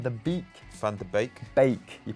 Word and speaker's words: Beek: Bake. You pronounce it bake, do you? Normally in German and Dutch, like a double E often is like an A sound.